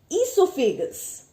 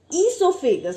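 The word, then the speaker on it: oesophagus: Then comes esophagus. What is it? Esophagus. Okay, O is silent.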